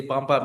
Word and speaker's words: Bam Bam: And I love the way you say bomb bomb because that's the correct way to saying it, Douglas Doug.